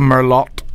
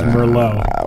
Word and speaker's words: Merlot: Well, I was pretty drunk at that point, so we'd had a lot of Merlot, so I fell asleep. You mispronounced that. And, It's Merlot.